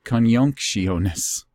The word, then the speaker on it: Conjunctionis: And it's with an I, not a J. And it's so much harder to pronounce with just the I. Conjunctionis.